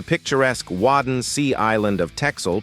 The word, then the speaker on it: Texel: Less than 2 miles off the Dutch coast, the picturesque Wadden Sea island of Texel, pronounced Texel, boasts expansive white sand beaches and a red lighthouse atop it.